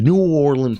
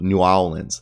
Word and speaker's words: New Orleans: new orleans new orleans like how peyton manning says it is how old people say it but new orleans is how people say it there so i'm happy i've been saying it correctly but supposedly other people in the country say new orleans that just sounds wrong new orleans pelicans remain